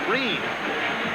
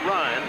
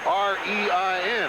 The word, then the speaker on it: Rein: And we understand that it is Russell Rein, not Ryan, so I stand corrected, but he spells his name R-E-I-N, and everybody I've ever known has had that name, Bo Ryan and Elliot Ryan, have pronounced it Ryan, but he pronounces it Rein.